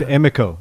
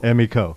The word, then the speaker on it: Emiko: a lyric so it's emo I've been saying your name wrong on this whole time emo if you say Emmy and Co Emmy Co Emmy Co all right